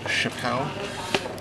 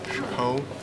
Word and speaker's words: Chapeau: It's pronounced Chapeau. Chapeau.